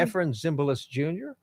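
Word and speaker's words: Efrem Zimbalist Jr.: Am I pronouncing his last name correctly? Ephraim Zimbalist Jr.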